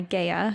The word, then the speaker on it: Gaia: Also, it's pronounced Gaia, not Gaia.